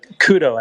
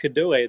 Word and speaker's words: Kudoe: We have two today, but the first one is here with Kudoe or Kudo. Alpha, we can hear you. Maybe you want to mute yourself. Thank It's you. actually Kudo, actually.